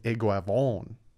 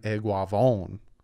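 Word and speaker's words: Eguavoen: right eguavon sam eguavon so it's iguavon sam eguavon that was the guava so now i mean i was close but it's eguavon liam eichenberg some people say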